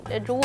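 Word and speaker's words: roux: है वो होता है आर ओ यू एक्स उसको पढ़ने में कुछ होता है प्रोनाउंस करने में कुछ होता है तो उसे रूह कहा जाता है तो वो यहां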